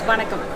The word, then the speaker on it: Vanakkam: It's Vanakkam.